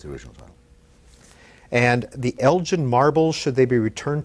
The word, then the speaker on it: Elgin: original title and the elgin marble should they be returned to greece what is this very quickly about it's actually elgat it's a hard g he's the english lord